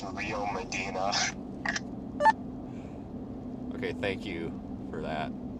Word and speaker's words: Rio Medina: I think it's Rio Medina.